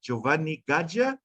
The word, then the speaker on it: Giovanni Gaja: the bottom there there's my name and surname you pronounce it giovanni gaja i'm an italian from